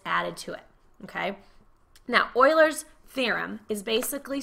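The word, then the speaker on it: Euler: Mrs H gravy well everybody wants to say uler mhm but it's Oiler it's kind of weird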